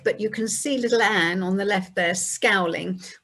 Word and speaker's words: Anne: And her name was soon shortened to what we would say Anne, but they would pronounce it in the continental way of Anna.